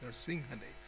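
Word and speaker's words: Nṛsiṁhadeva: The Anuswara, the M with the dot over it, is pronounced like an NG. That's why we say Nrsimhadev. We don't say Nrsimhadev. It's Nrsimhadev.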